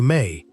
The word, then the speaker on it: me: Mi pronounced roughly May is one of the most important and most difficult to translate concepts in the whole Sumerian religious vocabulary.